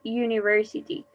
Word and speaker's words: university: letter is important okay university it starts with you but we don't use an in pizza is you not exactly university okay we say university so we use a